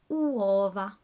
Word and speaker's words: uova: And finally, uova. Uova. Take your time to pronounce this because you have to make noises with all the vowels. So uova. Uova. Bene.